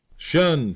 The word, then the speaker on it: shun: Shun squad abbreviated from the attention and pronounced shun.